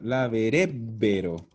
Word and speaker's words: laverebbero: casi, me faltó una sola sílaba. Laverebbero.